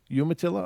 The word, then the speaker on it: Umatilla: and later the Umatilla moral County watch Umatilla Umatilla okay thank you I appreciate all that corrections all these regional pronunciations you imagine how many words I have